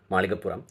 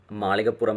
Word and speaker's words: Malikkapurram: might get confused because malikapuram is a very very strong Malayalam word with the usage of LA and puram is again